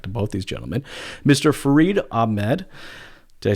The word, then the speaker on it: Farid Ahmad: Farid Ahmad.